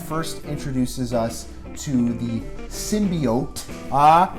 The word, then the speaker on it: symbiote: saying it simply off before but apparently it's pronounced symbiote so I stand corrected there you go guys